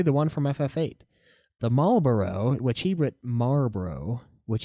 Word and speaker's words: Malboro: one from ff8 the Malboro which he WR Maro which is weird because used to pronounce it that way too but it is Malboro Marboro is a cigarette make that distinction from